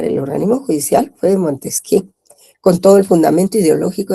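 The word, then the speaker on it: Montesquieu: Se escribe Montesqui, jóvenes, se pronuncia Montesqué.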